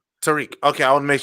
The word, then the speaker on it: Tajriq: And is it Tajriq? Am I pronouncing it correctly? No. It's Tariq, the JSI. Tariq.